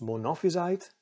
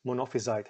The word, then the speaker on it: Monophysite: he was a believer of the thing is pronounced monophysite monophysite heresy which in short was the heresy that